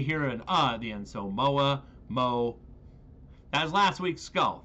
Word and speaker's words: moa: feet tall and yes if you are from New Zealand I understand it's pronounced Mo but you have an accent so my way we hear an uh the Enzo MOA MO as last week's